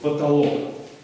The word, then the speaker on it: потолок: На какой слог, на какую буковку ударение? На третий слог. Потолок. А как мы эти две буквы О произносим? Через А. Да. Через безударное А.